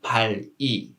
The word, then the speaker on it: 발이: That's why we don't read this word 발이. We just read it 발이, 발이, 발이.